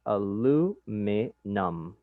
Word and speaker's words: aluminum: Esta palabra se pronuncia aluminum.